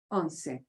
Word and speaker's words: once: look anything like one uh unsei right uh it is not the English word once we pronounce what we say okay but we take